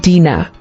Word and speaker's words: Dina: Dina origin Hebrew Dina meaning judged or Vindicated pronunciation Dena Bible verse Genesis 30:21 ESV and afterward she